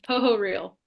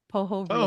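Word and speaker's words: Pohorylle: it up a long time ago how to pronounce it correctly but can you say it for us yeah poo real poo real poo real okay I was too far off see I'm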